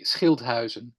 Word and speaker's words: Schilthuizen: Let me pronounce the name properly, Schilthuizen, but please pronounce it the Dutch way. It was almost perfect. It's the Dutch way would be Schilthuizen.